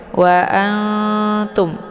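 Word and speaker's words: وَأَنْتُمْ: lebih ke samar ya Wa Antum wa Anum bukan an kalau an itu lebih ke iidhar juga bukan dibaca Ang ya ang kalau Ang itu lebih ke dengengung Nah karena ini adalah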